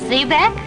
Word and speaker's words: xebec: And Zebek is actually spelled with an X, but people thought it'd be Exhibit. So we spelled it like it sounds with an Z?